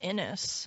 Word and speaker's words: Inuus: Inus? INUUS. So if anybody knows how to pronounce that. INUUS. Pretty sure it's just Inus.